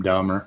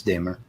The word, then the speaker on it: Damer: time i guess yeah we've been calling him dahmer and we found out it's dimmer yeah we call them